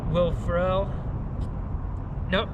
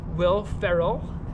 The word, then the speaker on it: Will Ferrell: that good the house will pharrell said it wrong again will ferrell uh amy poehler uh